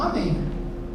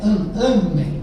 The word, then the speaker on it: amém: Ó, não confunda um amém, ok? Aqui a sílaba forte. É em a sí forte é amem é do verbo amar e aqui é amém.